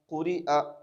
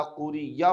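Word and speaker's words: قُرِئَ: बहुत सारे लोग व इदा क़ुरिया पढ़ते हैं या, जो कि गलत है।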